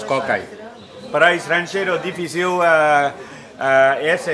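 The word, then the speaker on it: ก ไก่: A primeira, kokai. Pronunciamos kokai.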